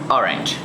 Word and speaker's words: orange: the second syllable banana in the word orange distress is on the first syllable orange sentences has strong the